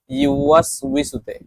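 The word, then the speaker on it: يُوَسْوِسُ: তো আমাদের এই সূরার মধ্যে সবচেয়ে বেশি উচ্চারণের সমস্যা হয় ইউওয়াস উইসুতে। তো আমরা এটা পড়বো যে ইউ ওয়াস উইসু, ইউ ইয়া পেশ ইউ, ওয়াও সিন জবর ওয়াস, ইউ ওয়াস, ইউ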